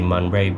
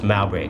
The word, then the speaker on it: Mowbray: I have to keep on practicing that pronunciation because I want to say Munbray, but it's Mowbray Clark.